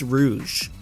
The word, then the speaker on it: Rouge: most minor change when you can't even pronounce her name correctly it's Rouge at the end of